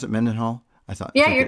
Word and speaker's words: Mendenhall: mendenhal and U is that how you pronounce it menen Hall I thought yeah you're correct yeah it's funny